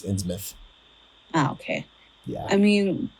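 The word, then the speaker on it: Innsmouth: or ins mouth it's it's spelled ins mouth but it's insouth oh okay yeah I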